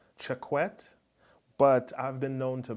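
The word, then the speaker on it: Choquette: I spoke to Jesse his last name is spell CH o qu et te I would pronounce that check wet but I've been known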